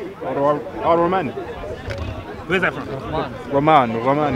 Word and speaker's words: Rahman: Sorry, how do you pronounce it? Rahman.